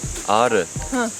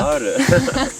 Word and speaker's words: Ağrı: I think it's not only me that it's so difficult to pronounce this R, like Aare. Can you say Aare? R. The province Aare. Ağrı. Aare. Ağrı.